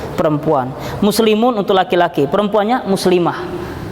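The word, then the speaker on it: مسلمة: Ustazun untuk laki-laki, ustazatun untuk perempuan, muslimun untuk laki-laki, perempuannya muslimah. Muslimah, walaupun kita nyebutnya pakai mah seperti daha, itu di akhirnya adalah tak marbutoh. Aslinya muslimatun, kita bacanya muslimah, ya.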